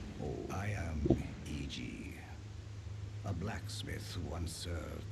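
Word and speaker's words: Iji: Cuz EG gets done wrong. Oh I need to get the map. Eg. No, not egg.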